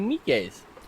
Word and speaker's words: Miike: And Takashi Miike's. Oh, nice. Takashi I don't know how to say it. I'm Takashi sorry. Miike? Something like that? Yeah, I know who you mean. Miike, right?